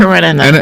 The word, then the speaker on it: Karenina: Karenina.